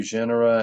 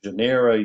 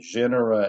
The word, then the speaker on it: genera: I have trouble with that word genera. Genera I I've never been able to pronounce it even when I was school in school and the teacher would say it. I could not say it back properly. So you may hear me say janera.